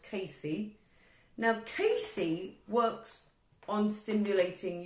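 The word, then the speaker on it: CACI: heard of a kc some people call it a khaki but it's actually pronounced Casey now Casey works on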